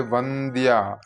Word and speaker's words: വന്ദ്യ: ഈ നാല് പേരുകളിൽ ' വന്ദ്യ' എന്നതിന്റെ അക്ഷരാർത്ഥം ' സ്തുതിക്കപ്പെടാൻ അർഹയായവൾ' എന്നാണ്.